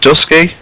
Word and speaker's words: Dusky: i think is it is it pronounced dusky yeah i i thought it